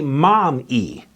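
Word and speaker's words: MOME: we started is called momi media or mommy publishing m om e I named it after my four children Marcus Odyssey Malcolm and Eli and it's almost phonetically mom II so that includes moms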